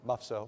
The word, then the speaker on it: MUFSO: MUFSO, how do you pronounce it? MUFSO? MUFSO.